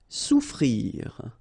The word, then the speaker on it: souffrir: Souffrir. Okay, so double F is not pronounced. Okay, so souffrir.